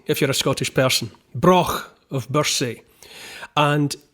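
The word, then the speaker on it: Brough: and the broken birth says it's spelled b-r-o-u-g-h pronounce Brock it's good you can clear your whole chest cavity if you're a Scottish person Brock of Bursey and it's very important to know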